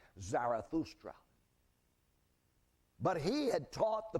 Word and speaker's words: Zarathustra: a prophet in Persia named zoroaster of course that's the Greek pronunciation his name was really zarathustra but he had taught